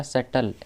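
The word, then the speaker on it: subtle: अगला वर्ड है हमारा सेटल एस यू बी टी एल ई इसमें बी साइलेंट रहता है एस यू बी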